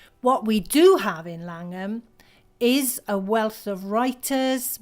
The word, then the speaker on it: Llangwm: 1880 we settled on Langham pronounced you'll notice in English rather than the full-blooded Welsh way Langham and we're pretty amazing